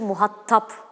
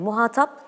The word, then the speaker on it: muhatap: entelektüel deme hatası gibi muhattap diyorlar Orada da bir Şimdi onu soracaktım muhattap Evet muhatap tek tledir ve ortadaki al sesi uzun sondaki uzun değil Yani muhatabım der Ken muhatabım değil muhatabım muhatabına şöyle söyledi gibi A'dan sonraki a Uzun muhatap yani ORT ikinci heza uzun ve tek t ile Evet yani Şedde yok